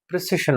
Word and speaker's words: precession: something like this, PRE की PRIC something था, प्रेसिशन जो हमने पढ़ा था इंस्ट्रूमेंट्स का, ये वो